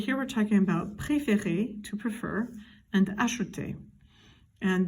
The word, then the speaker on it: préférer: Again, in the infinitive, it's an accent aigu, and it's pronounced préférer. Do you hear how it's the same sound every time?